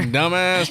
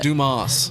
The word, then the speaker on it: Dumas: Is that how you say that? We always wonder. Dumbass, Texas. Yeah, we were just gonna skip over that. Pronounced Dumas. You remember that commercial? No. That was a commercial back in the day where That's he's funny. Mr. Dumbass. Yeah. No, Dumas, Texas, how they pronounce it.